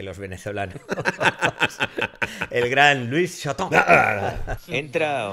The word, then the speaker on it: Chataing: Cómo se pronuncia y la pronunciación correcta es shoton número C de